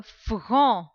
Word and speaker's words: front: Le front. Le front. Front. F, R, en. Front. The last letter T is silent.